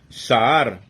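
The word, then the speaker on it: שאר: Entonces, ahora, esa palabra seor, que significa fermento, pedazo de levadura, viene de el H7604, que significa, o se pronuncia Sahar, y es de raíz primaria, propiamente significa hinchar, hacer redundante, dejar, desamparar los demás.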